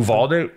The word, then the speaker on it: Uvalde: How do you pronounce that county in Texas? Oh, Uvalde or something? Uvalde.